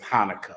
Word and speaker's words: Hanukkah: And the brothers can explain it to you about the different traditions that are associated with Hanukkah, or Hanukkah to be correctly pronounced.